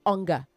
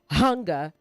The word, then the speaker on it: hunger: Pronounce the H in hunger. Okay, don't drop it. Don't say hunger. You have to catch yourself and be intentional about it. Say hunger, not hunger.